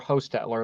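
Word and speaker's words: Hostettler: Or Hostetler, that's actually how you say it.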